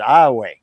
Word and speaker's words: Iowa: spelled just like that spelled Iowa but we pronounce it Iowa you tell Elvis the son is gray he'll